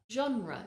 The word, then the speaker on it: genre: for many Learners genre now the way it's spelled often people say genre but the first sound of that word is a JRE if you find it difficult try isolating the two syllables je je genre genre that method can help sometimes when you have a really tricky word to say isolate the syllables and say them individually and then get faster and faster until you can say the word genre another word which